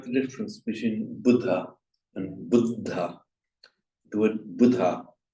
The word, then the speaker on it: buddha: You can imagine here that it means Buddha and Buddha, but she deliberately held that sound before releasing it, as in bubbe, not bubbe, but bubbe.